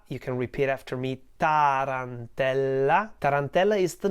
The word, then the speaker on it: Tarantella: turn teller Tarantella you can repeat after me Tarantella is the name of an Italian dance and